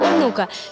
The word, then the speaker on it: Онука: популярному гурті назва гурту читається як Онука що з російської на